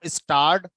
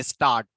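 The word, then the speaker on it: starred: Prefix में, स्टार, तो स्टार्ड expression. तो बोलते समय जनरली आर को हम साइलेंट रखते हैं, तो स्टार्ट एक्सप्रेशन बहुत से लोग इसे प्रोनाउंस करते हैं स्टार्ट, STAAT, ऐसा फील आता है ना।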